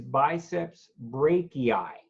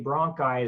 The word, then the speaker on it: biceps brachii: number one is the pectoralis major two is biceps brachii Melissa you kept wanting to say bronchi as though we're talking about the bronchioles in